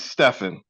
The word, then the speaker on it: Stephan: thank you is it Stefan is that how you say it it's Stefan stepan just like I always tell people it's like Stephanie without the IE on the end spelled or pronounced the